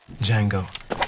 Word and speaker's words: Django: Django. D J A N G O. The D is silent.